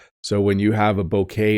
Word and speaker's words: bouquet: to pronounce it but it's basically b k bouquet bouquet so Jen likes to